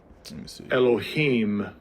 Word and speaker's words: Elohim: Strong's h430 entry one hello Ash it'll be pronounced second entry Elohim Elohim okay I'll cut that off the